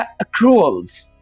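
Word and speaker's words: accruals: होता है उसे इंग्लिश में कहा जाता है अक्रूअल्स। इस वर्ड की जो प्रोनाउंसिएशन है जरा गौर से सुन लें।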